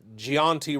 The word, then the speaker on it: Giani: We got Coach Giani rhymes with Keianti.